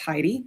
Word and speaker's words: Heidi: I know it's spelled funny, so I always forget that people might not actually know that it's pronounced Heidi, but it is.